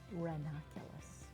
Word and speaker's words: ranunculus: Ranunculus.